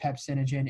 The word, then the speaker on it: pepsinogen: which then and so then chief cells produce pepsinogen.